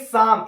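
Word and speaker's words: Psalm: मिला था letter day साम एक पोएट्री कलेक्शन था क्या नाम है रचना का लेटर लेटर डे साम ठीक है पी साइलेंट है ये जो है लेटर डे सॉम रचना के लिए ये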